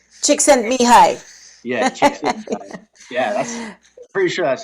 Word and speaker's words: Csikszentmihalyi: Chick sent me hi. Chick sent me hi. Yeah, chick sent me hi.